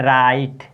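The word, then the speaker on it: write: पढ़ेंगे तो इसका रीडिंग क्या करेंगे य है राइट क्या है यह आपका क्या लिखा हुआ है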